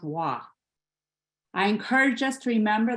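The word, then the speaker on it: waa: It is W-A-A, which I imagine is pronounced wah.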